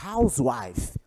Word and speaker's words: housewife: Quando o H ele é pronunciado, como é o caso da palavra housewife, dona de casa, então eu digo a housewife, uma dona de casa.